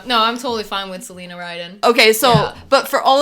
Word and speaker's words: Celina Ryden: sitting here with Selena wait no Selena Selena Selena Rhydian okay so Selena taught me how to pronounce her name horribly horribly that's why in the states she goes by Selena writing yeah or sometimes to oh yeah no